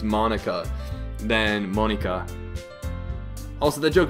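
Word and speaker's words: Monika: like you why is like well I would Monica not like he could be so shocking besides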